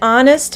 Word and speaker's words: honest: And an honest man.